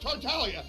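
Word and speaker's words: Tartaglia: ] know is that tartallia is pronounced tartalia and when the people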